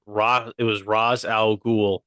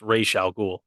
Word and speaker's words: Ra's al Ghul: It was it was Raz Al Ghul, even though it's pronounced Ra's al Ghul.